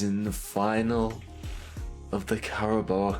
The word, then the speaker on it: Carabao: the final of the caraba cup even though it's pronounced carabao I pronounce it Carabella because that was half of what I pronounced it and I never knew the difference first trophy within the